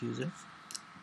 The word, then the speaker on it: usr: can do slash user USR is usually pronounced user slash oops I don't